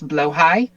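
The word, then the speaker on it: Blåhaj: This is um, as far as I am not Swedish, I'm fairly sure the pronunciation is blowhigh.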